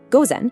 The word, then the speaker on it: gozen: is gozen, pronounced gozen, and p.m.